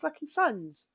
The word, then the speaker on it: LKYSUNZ: They're all going, yeah, it's LKYSUNZ. But they do pronounce it sons.